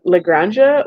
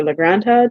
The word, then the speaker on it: La Granja: Anyways, my number 31 is uh Lranja or Lranta depending on how we're pronouncing it. I would say Lranja.